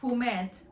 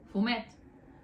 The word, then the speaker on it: fumet: Heads and skin you can use for fumet, which is, why did I say it like that? Fumet, which is fish stock in Catalan.